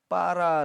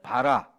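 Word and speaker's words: בָּרָא: 아 이 히브리어는 예 빨아 라고 하는 단어입니다 빨아 한번 따라 할까요 빨아 에 이 단어는 좀 약하게 반 발음을 하면 봐라 이렇게 하지만은 사실은 거기에 좀 강하게 강하게 발음을 하도록 표시가 되어 있어서 빨아 이렇게 우리가 음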